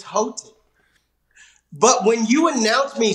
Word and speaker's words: Houghton: It's Houghton, and I know it.